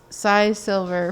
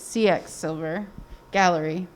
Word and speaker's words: CX Silver Gallery: I always think that it's Cy Silver for some reason, but it's CX Silver Gallery. Is that right? Yeah, CX Silver Gallery. The X is for she, X-I, that's her maiden name.